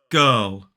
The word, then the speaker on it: girl: form of were and this word the only difference they rhyme the only difference is that it starts with a g sound so it is g girl pearl girl and now let's look at